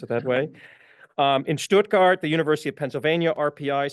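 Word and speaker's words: Stuttgart: He was a guest professor at the academ I speak German that's why I can pronounce it that way um in Stoutgart the University of Pennsylvania RPI Syracuse RMIT in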